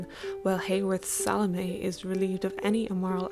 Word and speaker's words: Salomé: I also take issue with pronouncing it like salami, but that's really neither here nor there. A few films feature Salome as a play within